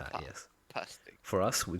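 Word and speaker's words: pastèque: Pastic. Sorry. What do you say? P. Go again. Oh, okay. Pastic. Very interesting. P. Yes. Pastic.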